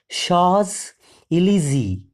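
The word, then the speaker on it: Champs-Élysées: e l y s w s it is pronounced as Sha elzy it is the very famous place in the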